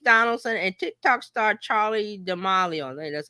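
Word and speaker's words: Charli D'Amelio: James Mr Beast Donaldson and Tik Tok star Charlie dealo that's how you say her name um So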